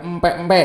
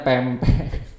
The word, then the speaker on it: pempek: nah bakso versus pempek ya bukan empek-empek ya bacanya pempek hal ini menunjukkan perbedaan